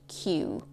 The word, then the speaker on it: queue: It's a very strange spelling word, but the pronunciation is simply queue, as opposed to American English, which would say a line.